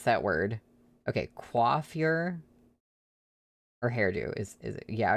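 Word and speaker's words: coiffure: You were trying to tell me how to pronounce that word. Okay. Quaffure or hairdo is is Yeah, I thought it had something to do with her hair. Was never seen that word before. Quaffure.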